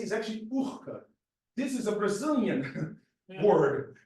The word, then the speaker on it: Urca: And then, of course, here we say URCA, but the correct pronunciation is URCA.